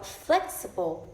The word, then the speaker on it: flexible: Or flexible. So flex is the stress word, or I can say the primary stress, and supple is the in turn the unstressed and the half stress.